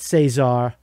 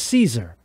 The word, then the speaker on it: Cesar: the the caesar sayak it's not cesar we now know we heard him say his own name and his we heard him say his name in his own voice it's caesar that's his name caesar he calls himself caesar sayak sayak whatever is